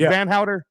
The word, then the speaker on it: Vanhowder: Is that how we pronounce it, Johnny? Is it Vanhowder? Yeah.